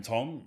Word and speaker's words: Thom: People call him Tom, and in situations where I would expect him to say, hey, No. my name is Thom. So it is, Well, Tom. But yeah, Tom, forgive me.